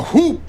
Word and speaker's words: whoop: it isn't good J I actually don't pronounce the h in whoop sir all the uniformed officers just left they're staging a walk out what oh no the hoop is Big after all